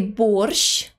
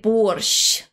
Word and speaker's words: борщ: is Soft Do You Know How to say borsh if you say or you are saying it Wrong борщ защищать усовершенствовать improve как можно усовершенствовать на самом